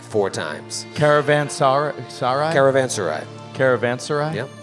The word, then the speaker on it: caravanserai: times caravan sorry sarah caravan sarai caravan sarai yep i looked it up i've been pronouncing it wrong for a long time caravan sarai seven wonders bro well